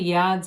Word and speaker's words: yods: cut and you've got the yards or yods of the tarot either pronunciation is acceptable coming down so it